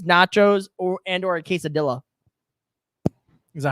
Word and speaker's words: quesadilla: favorite snack is nachos or and or a quesadilla is that how you say it that is